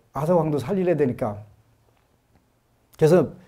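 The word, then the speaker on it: Arthur: 그 영국의 원탁의 기사 아서 아더 왕 이라고 하는 요새 나서 라고 하던 우리 때나 다 왕이라 그랬는데 선 아사 왕 이라고 하더라구요 ph 발음을 그렇게 좀 시대에 따라 바뀌어 지나 봐요 아서 왕 의 그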